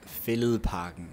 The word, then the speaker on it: Fælledparken: By the way, Zach, it's pronounced Fælledparken.